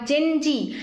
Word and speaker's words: Gen Z: এটা এর পরে আসছে আমাদের জেনারেশন মানে জেনারেশন জি বা জেন জি। এটাকে কিন্তু একচুয়ালি বলে জেন জেড। জেনজেডটাকে কিন্তু এটার প্রোনাউন্সিয়েশন হয় জেনজি।